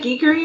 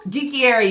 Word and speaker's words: Geekiary: Did you read that Geekery article? Geekiary, yes. Geekiary, I'm sorry.